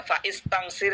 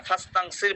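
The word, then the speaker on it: فاستنصر: অর্থাৎ ফাস্তাংসির যখন আমরা বলি তখন হামজার উচ্চারণ আর আলাদাভাবে আমরা করি না। ফাইস্তাংসির আমরা বলি না, ফাস্তাংসির বলি।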